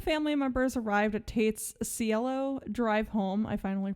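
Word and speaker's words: Cielo: home once the family members arrived at Tate's cello drive home I finally pronounce there correctly Watson snuck in through a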